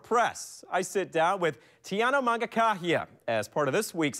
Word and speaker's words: Mangakahia: As for her name, well, it could be one you are still trying to learn how to pronounce. Tiana Mangakahia.